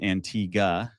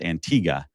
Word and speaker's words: Antigua: there, but uh or as the locals call it, Antigga. Uh apparently Antigua ending in UA is uh Spanish pronunciation and Antigga just ending in an A is uh English pronunciation. So they all say it Antigga.